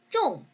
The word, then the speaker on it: 种: 종이 쫑. 이렇게 여러분들 사성으로 읽는다면 동사로서 심다라는 단어예요. 이렇게 쫑화라고 해서 꽃을 우리 종류 뒤에다가 놓는다면 사성으로 쫑으로 읽고 심다가 돼요.